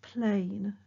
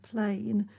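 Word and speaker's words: πλήν: nevertheless okay that word in greek is is pronounced plain okay plain and it can be translated as something like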